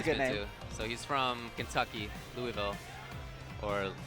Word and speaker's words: Louisville: guess that's a good so he's from Kentucky Louisville or Louisville or whatever like no you said it right